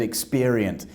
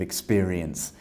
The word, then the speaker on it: experience: And you said experient instead of experience.